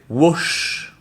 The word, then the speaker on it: wash: Et vous avez wash, qui veut dire ici laver. Wash. Donc, je répète les deux. Watch, wash.